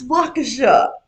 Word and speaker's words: Waukesha: to live, and I said, "Well, what about Waukesha?" And she goes, "What about what?" And I go, "Waukesha," and she goes, "It's Waukesha."